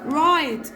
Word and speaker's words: write: هنا قولوا معايا كلايم البي مالها سايلنت يلا رايت الدبليو سايلنت تو هنا الاو الدبليو